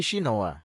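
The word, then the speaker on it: Shinoha: Demikian pula, karakter Shin adalah ninja, tetapi dia mengatakan itu dibaca sebagai Shinoa.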